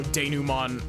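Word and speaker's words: dénouement: ever actually seen how denouement is spelt. But I saw it and I was like, that's a French word. That's a French word. It's got to be pronounced French.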